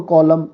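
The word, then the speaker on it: column: एन किसम नहीं है ऑटम और कॉलम इसमें एन है लेकिन बोला नहीं जाएगा आइडेंटिफिकेशन कट सेंटेंस स्ट्रक्चर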